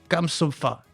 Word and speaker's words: Kamsofa: en compagnie de Kamsofa. Ça va, je le prononce bien? Nickel, ouais. T'es sûr, hein, parce que t'as le droit de me dire Non, c'est pas c'est bon. nickel, c'est nickel.